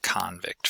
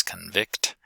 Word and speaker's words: convict: being different uh so in something like convict versus convict we have a stress on the first syllable for the noun and stress on the second syllable for the verb contrastive stress uh is